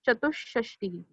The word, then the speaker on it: चतुष्षष्टि: सबसे important spelling again, चतु के बाद वी हैव टू पुट विसर्ग, चतुष्षष्टि. याद रखने के लिए आप चतुः षष्टि ही याद रख सकते हो, विसर्ग ऐड करना है, बट the correct pronunciation is चतुष्षष्टि.